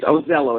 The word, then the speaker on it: Ozello: devil and I just want to make sure I have the the correct pronunciation pronunciation of your name it is ozel oh is that correct that is correct yes I